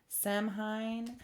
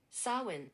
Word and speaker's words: Samhain: Okay, I'm getting Sam Samhine. I don't want to say it wrong and offend anyone. Um, let me see. There we go. Sawin. Sawin. Okay. So, I was very wrong.